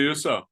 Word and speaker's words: Husso: Billy Husso, is that his name? Did I say it correctly? Yeah, Billy Husso.